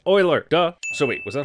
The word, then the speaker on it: Euler: would also know that the famous mathematicians name is pronounced Euler duh so he was